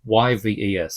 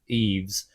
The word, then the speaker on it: Yves: It's spelled Y-V-E-S. So I'm going to go with Yves.